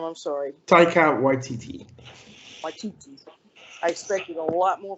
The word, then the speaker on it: Waititi: Waititi.